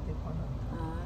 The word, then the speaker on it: Tijuana: I live in Tijuana. Okay. I have to pronounce it right.